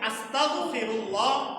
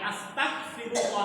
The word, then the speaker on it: আস্তাগফিরুল্লাহ: এজন্য উচ্চারণের ক্ষেত্রে খেয়াল রাখতে হবে যেন এটা আস্তাগফিরুল্লাহ না হয়, এটা যেন হয় আস্তাগফিরুল্লাহ। তাহলে আমরা সবাই একবার আমার সাথে একটু বলি, আস্তাগ আস্তাগ আস্তাগফিরুল্লাহ আস্তাগফিরুল্লাহ। গ দিয়ে হবে আস্তাগফিরুল্লাহ।